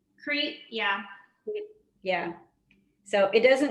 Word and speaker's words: Crete: it's from greece from crate crate is that how you pronounce it crete yeah yeah so it